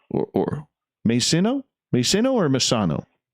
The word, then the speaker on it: Masino: Susan Masano, or Masino? Masino or Masano? No, not Masano. That's pronounced wrong. Masino.